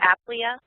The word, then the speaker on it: Aplia: It's Aplia.